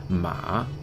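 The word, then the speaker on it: mǎ: Third tone, the dipping tone, ma, which is horse.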